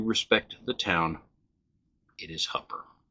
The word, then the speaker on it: Hooper: It is called Hupper. I know, it's spelled Hooper.